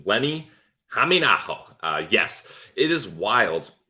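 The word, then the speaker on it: Lenni Hämeenaho: Great job nailing that pronunciation. Lenni Hameenaho.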